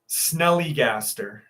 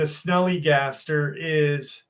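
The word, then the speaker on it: Snallygaster: I know people think the name is funny, but that's what it's called. Snellygaster. It's spelled Snalllygaster. And the Snellygaster it's an American folklore.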